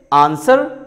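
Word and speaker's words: answer: और ऐसे ही कुछ वर्ड हैं जिसमें डब्ल्यू साइलेंट होता है, जैसे आंसर सोट, सोट।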